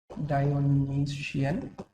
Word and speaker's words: Dionysian: दूसरा जो है Dionysian, डायोनीसियन, ठीक है। स्पेलिंग देखो, NY, okay, let me make it डायोनीशियन, ठीक है, डायनीशियन।